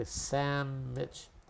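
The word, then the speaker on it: samich: I'm going to type the word Sam and we also say Samitch.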